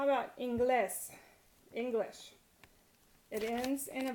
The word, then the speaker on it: inglés: next to last syllable, but inglés is stressed on the last syllable, so that's why you have to write a written accent, because it breaks rule 1. Inglés, with an accent on the E.